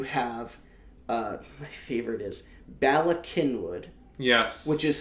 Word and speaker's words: Cynwyd: my favorite is Bala Cynwyd yes which is spelt ba la right but Kenwood is spelt Cyn Bobby eyes it's Cyn w-why D Cynwyd yep and there's also like